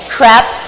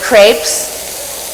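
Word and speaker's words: crêpes: school and she'd be making crap or crepes they lived in France so I have to say it correctly and then she'd have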